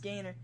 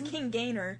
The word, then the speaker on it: King Gainer: saved Gainer G I'm pretty sure it's actually pronounced Gainer yeah it's King Gainer okay I I don't care how it man